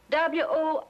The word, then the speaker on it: Worcester: But it's spelled W-O-R-C-E-S-T-E-R. Worcester. Oh, yes, I see, yes.